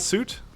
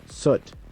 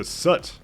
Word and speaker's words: soot: suit separation does that suit how do you say suit am I not pronouncing it right soot Sut okay so soot like foot okay suit up all